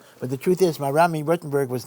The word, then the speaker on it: Rothenburg: Rothenburg is a city in Germany. In Hebrew, we pronounce it Rutenburg.